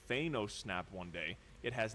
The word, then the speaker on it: Thanos: I'm just saying say it right. It's Thanos. There is no reason that you should be saying Thanos.